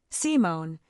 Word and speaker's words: Simone: And then I had spoken about her name for me, Simone, with the emphasis on the first syllable in the register that